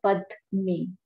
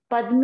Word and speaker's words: padme: Om money, ma ani, two syllable here. Now come to the padme. Padme is like lotus, okay?